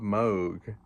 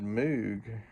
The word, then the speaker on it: Moog: I'm not sure where he looked it up, but he always pronounced Bob Moog, you know, the Moog synthesizer. Everybody else said Moog, and I thought Sam was kind of eccentric,